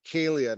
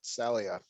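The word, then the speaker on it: Lupercalia: okay Fatima what is Looper Kalia I was saying it wrong kaylia not Celia it's a Roman 50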